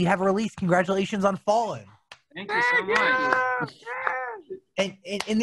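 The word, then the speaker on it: Fallin': Congratulations on Fallin. Thank you so much. And there is a difference between the hard G and the N apostrophe, correct?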